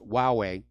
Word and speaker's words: Huawei: pronunciation about that Chinese cell phone manufacturer it's pronounced Huawei and apparently the CFO Ming Wang Yao has